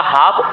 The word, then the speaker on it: half: तो नहीं पढ़ना क्योंकि यहां पर लेटर लिखे जाते हैं लेकिन वो पढ़ने नहीं है तो ये आएगा हाफ एन ऑफ डी प्रो